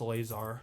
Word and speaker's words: Lazar: It's spelled like Lazar, but it's pronounced Lazar. All right, Alyssa Laser.